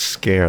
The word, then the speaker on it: Sker: It's literally pronounced scare.